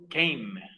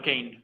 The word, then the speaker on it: came: Come entonces pasa a ser came. Came, no Kane, came.